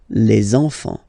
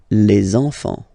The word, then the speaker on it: les enfants: Okay, and now we can focus on the liaison here, so you should make the little link, les enfants, les enfants.